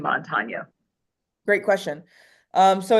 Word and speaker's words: Montanya: over the N is definitely And you got the name Montanya. right because a lot of people say Montoya or Montana or they think we're from Montana.